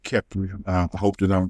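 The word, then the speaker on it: Khepri: Kepler. I hope that I'm pronouncing it right. K H E P R I Kipri which is the manifestation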